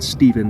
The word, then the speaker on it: Stephen: Scientists such as Stephen Hawking, if his parents wanted me to pronounce it Stephen, they would have fucking spelt it with a V, have expressed concern that full artificial intelligence, AI, could result in human extinction.